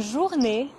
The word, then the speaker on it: journée: Le son « et » à la fin du mot « journée » est similaire au son « a » en anglais, mais en plus court. Bonne journée.